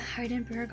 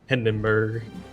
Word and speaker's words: Hindenburg: It's the Heidenberg all over again, oh no. They're gonna bully you on your pronunciation again. Babe. Hindenburg? Hindenburg.